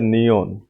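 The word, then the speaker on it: 니은: ठीक है, के बाद है नियोन, नियोन नून की आवाज देता है।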